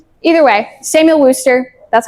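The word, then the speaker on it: Worcester: I've heard Worster. It's like worer sauce. Exactly. Either way, Samuel Worster.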